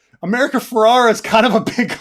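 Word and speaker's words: Ferrera: America ferrara's like uh is it Ferraro Ferrara um I don't wanna I don't want to get her her name wrong it's Ferrara America Ferrara um oh God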